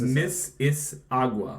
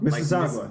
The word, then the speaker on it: Mississauga: Mississauga. Mississauga. There we go. Mississippi with aga in the middle, at the end instead of ippy.